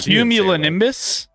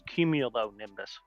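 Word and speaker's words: cumulonimbus: I will tell you right now he's he's right even though he's mispronouncing it. It's cumulo nimbus.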